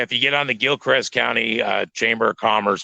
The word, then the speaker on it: Gilchrist: see this Gil Christ Gil Crest is what it's pronounced but Gil Christ is what it spell old Gilcrest Trenton Florida